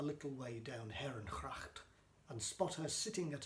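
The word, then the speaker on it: gracht: window onto Heron cracked cracked the Dutch word for canal is pronounced with a guttural H rather than a hard G but I didn't know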